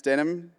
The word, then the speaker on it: Denham: My name is Denim, pronounced like the jeans.